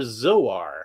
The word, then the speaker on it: Zor: Do you pronounce it zor or zor? Because I hear it both ways. I usually say zor like it rhymes with sore because that's how I interpret it because zor soarses through the air.